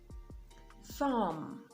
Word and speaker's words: thumb: Now, the B is silent when it comes after the letter M. So you have comb, climb, thumb, dumb, even in plumber.